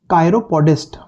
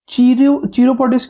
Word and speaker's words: chiropodist: इसको चीरोपोडिस्ट क्यों नहीं बोलते, कायरोपोडिस्ट क्यों बोलते हैं? इसका डिटेल एक्सप्लेनेशन हमने लास्ट क्लास में आई थिंक दिया था कि कैसे CH का प्रोनाउंसिएशन क भी होता है, च भी होता है, और फ्रेंच अगर वर्ड यूज करेंगे तो श भी होता है।